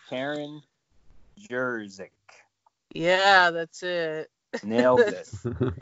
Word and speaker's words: Karen Jerzyk: And her name, and I might pronounce it weird, it's Karen Jerzyk.